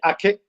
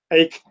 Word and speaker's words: Aki: Depend where in the world you pronounce it. Okay. I'm from Spain. I'm from Spain, so we say ake, but of course English Americans it's ache, so no problem.